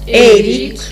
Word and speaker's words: эрик: Вот эрик надо произнести мягко. Эрик.